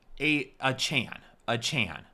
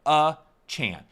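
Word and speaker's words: Achane: But last year, before the season started, he said you pronounce my name a Chan, like a Chan.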